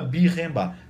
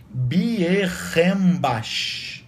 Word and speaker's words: Bierenbach: Sheila Bierenbach. Se escreve Bierenbach, com CH.